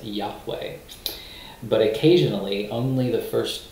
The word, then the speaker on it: Yahweh: consonants and Ebru and we usually pronounce it in English as Yahweh but occasionally only the